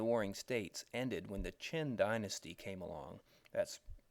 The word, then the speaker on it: Qin: period of the warring States ended when the Qin Dynasty came along that's spelled Qi N or sometimes CH ' iin and the Qin